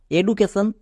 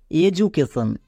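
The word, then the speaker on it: education: হয় তাই এর উচ্চারণ হওয়ার কথা এডুকেশন কিন্তু এটা ভুল এর উচ্চারণ হবে এডুকেশন কেন কারণ আমরা জানি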